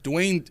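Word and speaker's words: Dawuane: weird like if I'm if I'm reading this phonetically it's daani and that's how you spell it d a w u a n e like d Wayne Wayne Right but anyway no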